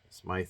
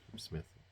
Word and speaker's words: Smyth: Now I know I talked about Patti Smythe, but I think I said her name was Patti Smith. I don't even know how to pronounce it. I thought there was an E at the end of it.